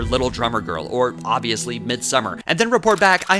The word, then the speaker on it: Midsommar: the genres unholy alter mid Samar and I promise that's the first and last time I resort to the pretentious pronunciation of its title is a striking indication